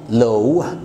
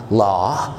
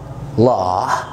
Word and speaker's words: law: في الإنجليش إحنا بنقول law، وده طبعاً خطأ كبير جداً لأنها بتتقال law. law، افتح الاو، law.